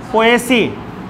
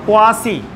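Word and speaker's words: Poaceae: পোয়েসি বা পোয়াসি। যদি পোয়া থেকে আসছে কিন্তু উচ্চারণটা পোয়েসি হয়।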